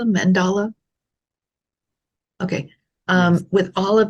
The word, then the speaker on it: mandala: a a mandala a mandala how do you pronounce that Mandela mandala okay um with all of these items on